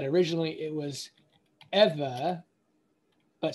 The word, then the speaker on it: Eve: So we say Eve, but the better pronunciation is Eva or Ewa.